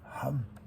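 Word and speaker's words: חם: Ham. Dans la traduction biblique, ils mettent Sham, mais en réalité c'est Ham. C'est la même chose pour nous, la prononciation c'est le Het, c'est une prononciation un peu forte.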